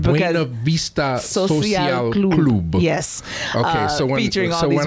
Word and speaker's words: Buena Vista Social Club: Buena Vista Social Club.